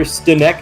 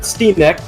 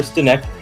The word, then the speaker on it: Stinek: Tyler Stinek, not Steenek. We're not going to double E it. It's just Tyler Stinek.